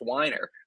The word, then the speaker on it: Weiner: Believe it or not, my last name is actually pronounced Weiner.